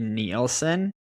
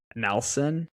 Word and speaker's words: Nelson: I was listening to the cooldown and Keegan called him Henry Neielen. I don't feel bad now for mispronounce I okay I still feel bad that I mispronounce people's names but like I wouldn't screw up Nelson so yeah there's no like I in there yeah dang I